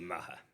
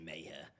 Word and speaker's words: Maher: I say Maher, but officially it's actually Maher. It's an Irish surname, so it's actually Maher. But in this country, a lot of people say Maher.